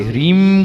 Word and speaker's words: ह्रीम: बहुत ध्यान से नाक से, ह्रीम का जो उच्चारण है वो नाक से करो, ओम ह्रीम ओम।